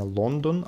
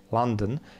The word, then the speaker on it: London: вопрос Winter in London НН читается не Лондон а вот такой звук будет а London Вот вот Второе предложение